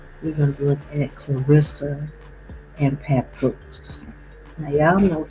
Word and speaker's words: Claressa: And I believe they said that her name is pronounced Clarissa, right?